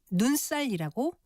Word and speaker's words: 눈살: 이것은 눈살이라고 쓰고 발음은 눈살이라고 된 소리로 발음합니다.이 말은 눈과 살이 합해진 것인데